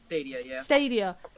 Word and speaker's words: Stadia: this Google's oh this is where I'm gonna pronounce it right it's studier stadia basically Google isn't getting into the [ __